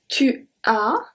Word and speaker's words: tu as: We don't pronounce the S at the end, so it still makes the same sound as the other one.